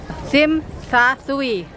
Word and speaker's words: Tsim Sha Tsui: Tulisannya Tsim Sha Tsui. Kita bacanya Tsim Sha Tsui.